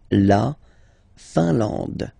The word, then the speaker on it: Finlande: La Finlande. I-N here, nasal, un. A-N, nasal, en. And then D, final E, not pronounced. La Finlande.